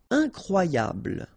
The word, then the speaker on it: incroyable: Incroyable. Okay, same thing here for the final E. Don't pronounce it. So, incroyable. Incroyable.